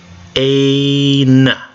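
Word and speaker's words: ἦν: Eta has a long A sound, so A, eta. Nu has an N sound, N, N, nu. Let's try to put it together. Ain, ain, ain, ain.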